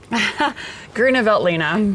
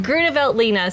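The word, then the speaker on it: Grüner Veltliner: myself i'm going to ask lisa how to pronounce it again gruner veltlina gruneveltlina say it with me gretevelt lena cheers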